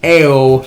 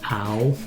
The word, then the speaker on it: Ao: Excuse me, it's pronounced ow. Yeah, because that is also the noise we make from that stupid fucking deck. Actually, I do believe it is pronounced It ow. is ow.